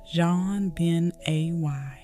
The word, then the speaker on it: JonBenét: Her name was French in style, pronounced JonBenét, and it suited her.